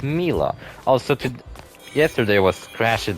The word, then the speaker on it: Milla: bother they just say mia as if she has a y in her name but she doesn't have a y in her name she gets two l's so it's mila also to yesterday was